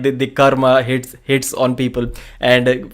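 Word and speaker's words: कर्म: it is realistically speaking in Sanskrit it was called karma and in Hindi it is called Karm it is a Hindi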